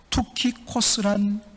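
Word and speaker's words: Τυχικός: 그래야만 또 우리가 잘 이해할 수가 있습니다 독이고 특히 코스란 이름을 가진 사람입니다 여러분 성경에 보면 두기고에 이름이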